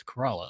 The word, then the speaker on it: Corolla: He's like, man, it's not Corolla. It's not a car. It's Corolla.